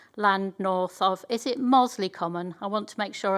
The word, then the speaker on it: Mosley Common: That's JPA 34, the M6 Junction 25, and JPA 35, land north of, is it Mosley Common? I want to make sure I get the pronunciation correct. Mosley Common, thank you.